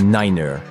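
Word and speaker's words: niner: un code ultra secret c'est juste la façon dont les pilotes prononcent certains nombr dans leur anglais de pilote three signifie 3 FIF 5 et ner est utilisé à la place de 9 cette prononciation vise à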